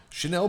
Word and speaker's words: Shennel: when at the event you said your name was Chanel. I was like, "Oh, I know how to spell that." You're like, "No, you don't. Not the way I spell it.